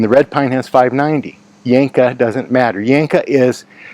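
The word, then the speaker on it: Janka: Yanka, it's uh spelled with a J pronounced with a Y. The Yanka hardness on this wood is about 590.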